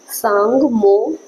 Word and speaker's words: Tsomgo: ठीक है, अगला सवाल है, सांगमो, इसको इंग्लिश में इसकी स्पेलिंग है TSOMGO, सांगमो, इसका नाम है सांगमो लेक भारत के किस राज्य में है?